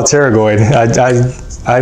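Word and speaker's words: pterygoid: by the way by the way it's not pronounced Pago don't call it pteroid it's call teroid I I I like to mispronounce words cuz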